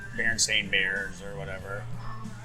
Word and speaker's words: Berenstain: used to know, like Berenstain Bears or whatever. I always thought it was Berenstein. I knew it was Berenstain, but it's spelled with a Stein.